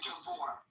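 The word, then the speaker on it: Gábor: Is that how you pronounce it? Tell me the truth. It's Gabbor.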